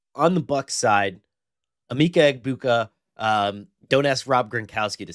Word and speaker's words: Egbuka: How dare you, Emeka Egbuka? Did you And see the and just for people who don't know, the G is silent. It's Emeka Egbuka. Emeka Egbuka?